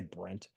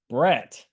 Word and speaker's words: Brett: Why did I say Brent? Brett.